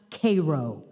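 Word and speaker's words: Cairo: he said explaining that though it was spelled like the city in Egypt it was pronounced Koo the Illinois way nice town he said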